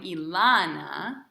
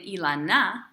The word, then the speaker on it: Elana: But we don't pronounce my name Ilana, right?